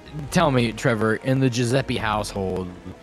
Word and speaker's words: Giuseppe: I said Giuseppe, and then I said Giuseppe. No, it's Giuseppe. I said that. No, you said guh, like a hard G. It's a soft G, like Jim.